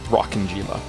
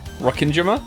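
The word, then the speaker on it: Rokkenjima: I learned today that the island is not pronounced rocking Jima don't get me wrong I'm still probably going to call it that I think it's Rin Jima I think that's how I think that's how you say it but uh you know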